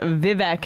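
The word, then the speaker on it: Vivek: a freestyle rapper as vivc is vi vi it rhymes with cake that's the one thing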